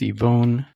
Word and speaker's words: Yvonne: Nerd headers, I am here with Ivonne. Did I say your name correctly or is it? Good enough. Good. Yeah, usually I just say Ivon. My uh the Chinese pronunciation Ivan.